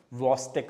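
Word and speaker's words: Chvostek: we call it as VC sign C generally is silent there CH is silent the usual pronunciation is VC sign let us indianized it and call it as chost sign absolutely fine okay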